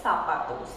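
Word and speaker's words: zapatos: Remember this z gives you the pronunciation of s. So this we call it as sapatos.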